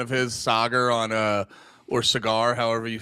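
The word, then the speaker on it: Saagar: a big fan of his Sagar on or Cigar, however you say his name. It's Sagar on Breaking Points.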